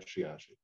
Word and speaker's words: Sheyahshe: everyone uh um my name is shiyashi shiashi i'm a member of the donation she is a caddo for little boy originally pronounced shiatsu and that was too hard to spell so you got shiashi so i'm a technologist and founder of alternative